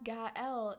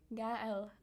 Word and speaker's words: Gaël: Oh, it's Gaël. It's French. Gaël.